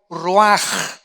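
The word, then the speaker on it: רוח: La palabra que se usa aquí, 4 vientos, es la palabra hebrea ruaj, o se escribe ruach, que es como se traduce la palabra espíritu.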